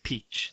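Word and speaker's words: piçkë: um it's horrible well the word is spelled p-i-c with a weird thing underneath it k e and that is translated it's peach that's how you say it so yeah it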